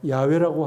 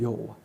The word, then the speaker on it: 야훼: 드러내는 호칭입니다 히브리어로 여호와 야훼라고 하시는 그네 글자에는 온 우주의 근원이시며 영원부터 영원까지 살아계시고 유일하신 참 하나님이심이 계시되어 있습니다 그런 하나님의 정체성을 담은 호칭이 바로 여호와 보다 정확한 발음으로는 야훼이 있습니다 그러므로 야훼 하나님의 영광을